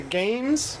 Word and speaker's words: GAEMS: just want to use this this is the games and it's spelled g a e m s Mi or